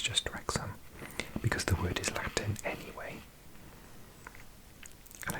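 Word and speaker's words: Wrexham: have Alexa now technically a doubling Welch is pronounced oh but I've never ever said or exam I'm pretty sure it's just rexham because the custom anyway I think for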